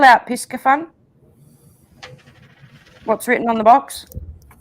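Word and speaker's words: Piscifun: Piscafun. Listen, guys. Piscafun. So the C is not pronounced. Piscafun. Right. The SCI is pronounced like sci, like science.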